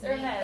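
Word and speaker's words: Hermès: The letters are silenced because it's French. You know, we don't like some letters. But we'll put them in there anyways. But you don't pronounce it.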